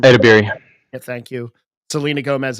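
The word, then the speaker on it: Edebiri: She beat Kristen Bell, Quinta Brunson, Ayo, I can't even pronounce her name. Edibiri.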